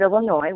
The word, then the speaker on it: Illinois: I am the Part C coordinator / bureau chief for the Bureau of Early Intervention in the state of Illinois, where the S is silent.